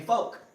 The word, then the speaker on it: folk: a word f-o-l-k too do you even pronounce it Ellen there folk yeah yeah it's like Polk like Spencer like Marshall Faulk I don't know okay